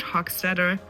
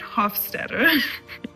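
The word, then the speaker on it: Hofstadter: First, we have Leonard Hawketter. I always say his name wrong. Leonard Hoffsteader.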